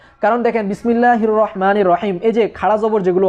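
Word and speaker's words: الرحمن: রহমান যখন আমি বলব তো আর রহমান লেখার ক্ষেত্রে যদিও র হা তারপরে মিম নুন চারটা হরফ কিন্তু রহমান উচ্চারণে কিন্তু পাঁচটা হরফ চলে আসছে কারণ মিম এর পরে এখানে একটা আলিফ আছে কিন্তু কোরআনের ভিন্ন রকমের ভাষারীতির কারণে আলিফটা এখানে লেখা হচ্ছে না।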